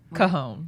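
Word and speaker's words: cajón: The Cajon. Cajon, That's okay. right. That's how you pronounce it, cajon, right?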